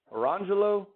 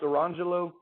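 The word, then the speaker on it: Orangejello: and lemon jello but they weren't pronounced orange jell-o and lemon jello they were pronounced Iran jello and lemon jello and that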